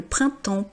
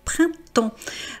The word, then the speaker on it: printemps: mais le printemps, voyez, ça se termine par un p un S. On dit pas le printemps, on dit le printemps. Euh, on ne prononce généralement pas la dernière consonne la marque du pluriel.